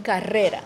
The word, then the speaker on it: carrera: And so, for example, in Spanish, we have this very hard R, Okay. like the word, the name rose is pronounced rosa. Okay. And so, or if I want to say like, a race would be carrera.